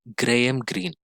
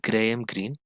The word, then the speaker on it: Graham Greene: Now, famous British writer Graham, it is not Graham, Graham Greene, pronounced as Graham Greene, called autobiography a sort of life, meaning it